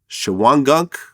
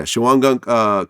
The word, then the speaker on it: Shawangunk: And he ends up getting sentenced in Shawangunk. Yeah. Am I pronouncing it right? Yeah. Yeah, Shawangunk Correctional Facility, where you were sentenced as well.